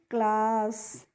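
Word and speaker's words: claw: तो सी एल A double S को हम पढ़ते हैं क्लास।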